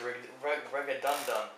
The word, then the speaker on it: Raghunandan: How do you pronounce it? It's Raghunandan.